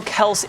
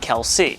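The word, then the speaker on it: Kelce: to the situation and he explained that while Kel is the family name his father has always pronounced it Kelsey he clarified that he is more than happy to accept either though the funniest part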